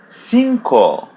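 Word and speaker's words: cinco: In Portuguese it's pronounced as E. E. E. So if we have the letter C before it it would be C. C. For example, the word sinko.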